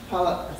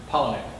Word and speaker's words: Palahniuk: workshopping with none other than the legendary Chuck Palahniuk. See, I'm going to pronounce this. I just learned how to pronounce his favorite author, Palahniuk.